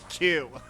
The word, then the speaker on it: queue: uh Q Q cracks me up because it's literally a Q and then U E U E and you don't pronounce any of those. The word is just Q like stupid.